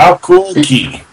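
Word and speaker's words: Hakuoki: Hakoki. I'm not even gonna pretend like I heard about this game. I'm not even gonna pretend like I'm pronouncing it right. I'm not. How cool key.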